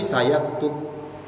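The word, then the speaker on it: سَيَكْتُبُ: Wa fi qiraatin bil ya, ada yang membacanya pakai huruf ya, berarti sayaktub.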